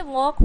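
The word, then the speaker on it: walk: में आया हुआ है तो यहां प एल आप आंख बंद करके साइलेंट कर दीजिए तो क्या हो जाएगा टॉक हो जाएगा उसी तरीके से वक हो जाएगा एंड चौक हो जाएगा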